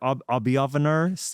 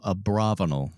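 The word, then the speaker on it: Abravanel: in what is it Abi onar Abi avaner theater in Salt Lake City I know it took me I didn't know how to pronounce until the second show a braval a braval I was way off Samsonite I was completely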